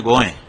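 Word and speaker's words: गोंय: वो कोंकणी भाषा में गोए। अभी भी एयरपोर्ट पर हम जाते हैं, वहां लिखा है गोए, गोवा नहीं लिखा है। वो गोवा तो अंग्रेजों का उच्चारण है।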